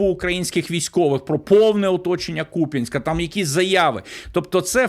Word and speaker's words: Куп'янськ: Ще одна характерна ознака - це фейкові військові неправильно ставлять наголоси у слові Куп'янськ замість я на ку на куп'янськ на Куп'янськ.